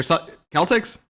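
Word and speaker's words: Celtx: Celtics or Celtics. That's how they pronounce it.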